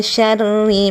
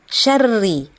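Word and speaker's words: شَرِّ: Nah, kemudian syarri, ya. Perhatikan syarri, ada huruf shin bacanya syarri. Min syarri ma khalaq. Nah, syarri itu bacanya ditahan syarnya, ya. Kemudian ri-nya tidak boleh dipanjangkan.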